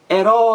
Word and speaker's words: herói: é a última grite herói herói a sílaba mais forte a última da palavra se é a última